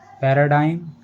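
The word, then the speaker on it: paradigm: letter आ रहा है तो जीएम में हम जी का उच्चारण नहीं करते जैसे पैराडाइम फ्लेम इन वर्ड्स में वर्ड के लास्ट में जी एम लेटर आ रहा है और इन वर्ड्स में जीएम में हमने जी का उच्चारण नहीं किया है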